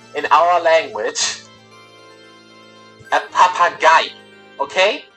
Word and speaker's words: Papagei: Again, it's three syllables this time. Papagei.